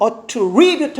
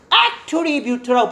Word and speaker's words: attribute: 문제는 요게 명사로 쓰여서 attribute 아니라 attribute터라고 발음하면 뭐다?